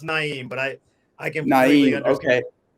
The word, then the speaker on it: Na'im: alignment collaboration and speed nom i hope i pronounce that correct how's it going today it's going pretty well you got close it's actually my name is actually pronounced naim but i i can't